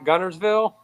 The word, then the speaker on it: Guntersville: So, how do you Jimmy? How do you say Guntersville? Uh, Gun Gunersville. Ah, he's got it. He gets it right. Bobby calls it Gunville. He puts a th on it.